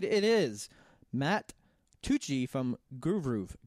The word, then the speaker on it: Groovru: It's not Hines, but it is Matt Tucci from Groovru. Groovru. There we go. We got it. I finally said it right, because you know me and saying things that are different, I screw it up.